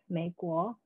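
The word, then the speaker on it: 美国: To push this reading further into the realm of the oral, we can see that the Mandarin pronunciation for rose, mei gui, sounds eerily similar to that of America, mei guo, especially if sung out loud.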